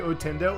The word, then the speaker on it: Ottendo: Now, grab the word Nintendo. Remove the t on the otter, and remove the nin on the Nintendo.